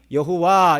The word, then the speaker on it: 여호와: 그래서 이 자음에다가 아도나이의 모음을 붙여서 발음하니 여호와 이렇게 발음이 되는 거예요. 그래서 학자들은 여호와라고도 발음을 할 수 있지만 그 비슷한 단어를 발음하는 것을 이렇게 유추해 보면 야훼로 읽을 수도 있다, 그렇게 말하는 것입니다.